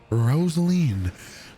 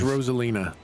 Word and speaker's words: Rosalina: up to the t rosaline with a 200 231 meter line drive it's rosalina what did i say rosaline that's what the that's